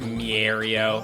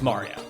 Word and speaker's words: Mario: I love I love people who pronounce it mio. I know it's Mario. Like it is Mario.